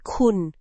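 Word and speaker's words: คุณ: That would be kun, which means you.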